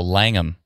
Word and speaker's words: Langham: Oh, Langham is how they pronounce it.